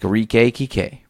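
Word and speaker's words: Kike: nickname popular in Mexico for people named Enrique pronounced TK like a reek a key k right but Sony confused the name for racial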